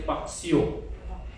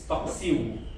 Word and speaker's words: paksiw: Some Filipinos cannot say Paksiw; they will say Paksio, Paksio, but it's Paksiw.